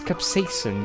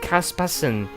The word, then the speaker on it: capsaicin: You didn't say the I. It's capsaicin. You said caspasin. Caspasin is not capsaicin.